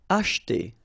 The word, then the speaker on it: acheter: Acheter. Same thing here. We don't insist on this so acheter.